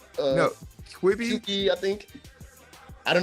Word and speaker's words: Quibi: Or Qubit. No, Quibi. QE, I think. I don't know how to pronounce it, but I know the one you're talking about.